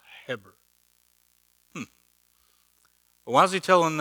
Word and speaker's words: Heber: It says Eber in your Bible, but it's pronounced Heber.